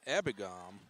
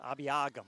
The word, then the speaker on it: Abiagam: Brought in a massive tight end at tailback in Justin Abigam. Oh, yes, Abiagam. Abiagam. Yep, 4 syllables.